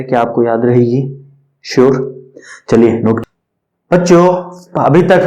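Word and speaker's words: χ: बच्चों इसको एक स्पेशल सिंबल से रिप्रेजेंट करते हैं जिसको आप शाय बोलते हैं। क्या बोलते हैं, CHI, शाय। क्या बोलते हैं, CHI। ये चाय नहीं है आपकी, ये इट इज क्या प्रोनाउंसिएट एज शाय।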